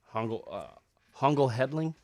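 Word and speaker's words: Hongoltz-Hedge: So all these articles are based on a book by Matthew Hongel Hedling, I think is the way you pronounce it.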